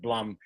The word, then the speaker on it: Blum: Whatever, you know, I pronounce it Blum. It's actually Hungarian, and it's somewhere in between Blum and Bloom.